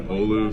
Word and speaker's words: Olu: I mean, I'm known by Olu, so it's. Yep. I feel like it's pretty hard to mess that up. It's 2 syllables. It shouldn't be that hard.